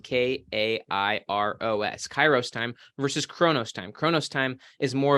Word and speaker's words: chronos: One would be called kairos time, or kairos time, which is spelled K-A-I-R-O-S, kairos time, versus chronos time.